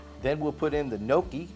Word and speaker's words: gnocchi: couldn't resist delicious then we'll put in the gnocchi gnocchi gotta say it right and then we'll taste